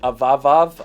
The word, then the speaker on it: Avavav: If you guys didn't know, the brand's name is Avavav, I think is how you say it, or A-V-A-V-A-V.